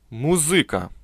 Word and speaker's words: музыка: для голодного студенческого желудка музыка с ударением на и особенная каша названная так